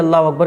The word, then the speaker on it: अल्लाहु अकबर: अब दोनों को जब आप मिलाएंगे तो हो जाएगा अल्लाहु अकबर। अकबर अकबर, कुछ लोग अकबर नहीं अकबर, अल्लाहु अकबर। तो ये सही प्रोनाउंसिएशन है, अल्लाह अकबर ऐसा नहीं।